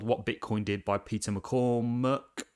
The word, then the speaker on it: McCormack: bitcoin did by peter mccormuck i think mccormack is how you say his second name um now peter's views